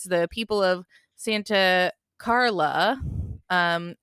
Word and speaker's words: Santa Carla: I also appreciate you pronouncing it properly as Santa Carla because the mayor of Santa Cruz didn't want his town depicted because Where it they is filmed it, yeah.